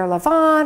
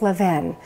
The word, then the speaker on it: Levain: Now, you may have heard it pronounced another way, and everybody tells me it's either Levon or Levain, but I actually Googled yesterday and found the owners of the bakery, and they said it's Levin Bakery, Upper West Side, New York City.